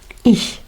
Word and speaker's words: ich: La I súper rapidita, ich, muy cortita, ich.